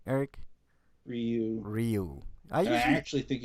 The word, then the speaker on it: Ryu: Ryu and Chun-Li are coming to the game next month.